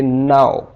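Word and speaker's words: know: clock pick black quick इसी तरह अगर एन जाए तो यहां पर के साइलेंट हो जाएगा खामोश हो जाएगा जैसे के एन ओ व यहां पर के बाद एन आया है के एन के एन तो यहां पर के हो जाएगा साइलेंट इसे हम पढ़ेंगे नौ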